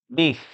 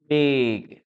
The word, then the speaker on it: big: The correct pronunciation of this word is with the letter G. big big big big Okay, so